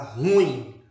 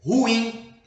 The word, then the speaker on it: ruim: pronúncia aí tá e as pessoas costumam pronunciar a palavra ruim quando na verdade a pronúncia é ruim né ocorre um iato aí e no dia